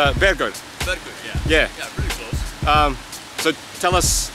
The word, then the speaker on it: Bergur: so I'm going to do it yeah it's bed guards yeah so tell us how to pronounce that and why I can't believe